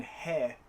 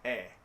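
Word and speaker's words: へ: And yes, I know this is not how this character is pronounced. But when it's a particle, rather than he, it's pronounced e.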